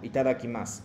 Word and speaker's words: itadakimasu: Entonces, omaji cuando terminan U, no pronuncia. Finales de U, no pronuncia. Como si itadakimasu, no es como itadakimasu, no, itadakimasu, como que desapareciendo hacia la final.